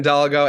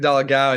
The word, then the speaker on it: Dolgow: in the world so I accept all versions of it but Doo DOA it's it all works with me okay I just